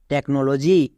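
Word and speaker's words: technology: next T ই সি H take N ও নো এল ও জি ওয়াই লজি টেকনোলজি next T ই সি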